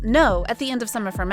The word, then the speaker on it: 노: In her Bubble conversation, aespa Winter's Gyeongsangdo dialect uses '노' (pronounced as “no”) at the end of some of her messages.